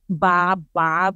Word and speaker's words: baba: can join me to say the syllables with this inflection Baba if you can actually join me say baba baba everyone in Filipino is a question to mean is this going down so if you're saying